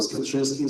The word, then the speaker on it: Skwierczyński: My name is Skwierczyński, so this is the difficult pronunciation of my surname, but you can call me just.